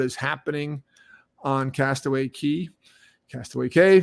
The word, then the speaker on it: Castaway Cay: Castaway Cay, pronounced both ways, is fine.